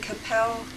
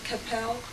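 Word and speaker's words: Qu'Appelle: It's July 25th to 29th in Capel, Saskatchewan. And they recommend, it's spelled Qu U A P E L L E. I think they recommend that you call the uh Fort Capel District Chief's Office.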